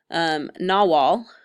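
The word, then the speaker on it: Nahuatl: now call Mexico and he ended up learning Nawal that's how you pronounce that word and he helped establish the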